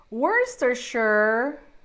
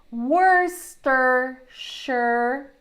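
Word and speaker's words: Worcestershire: things that we have so Worster sure wor not worest say wor wor Worster sure sauce Worster sure sauce it's worst sure like the sauce it's worst or sure like the sauce it's worst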